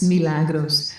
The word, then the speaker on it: Milagros: People always mispronounce my name. It's Milagros.